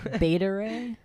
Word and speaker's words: Beta Ray: I know you said how do you say it betta no it's not betta beta ray yes Peter no that that's